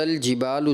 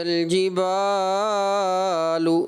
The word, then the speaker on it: الْجِبَالُ: بیٹا یہ وَإِذَا الْجِبَالُ سُيِّرَتْ ہے، وَإِذَا الْجِبَالُ یہ نہیں ہے بیٹا، اس کو ایسے نہیں پڑھیں گے، اس کو ایک الف پڑھنا ہے.